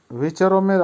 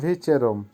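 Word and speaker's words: вечером: ভিচেরম, ভিচেরমের অর্থ হবে সন্ধ্যায়। উচ্চারণ হবে ভিচেরম।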